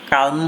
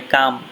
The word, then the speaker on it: calm: এখানে CALM কালম হবে না, এটার উচ্চারণ হবে কাম।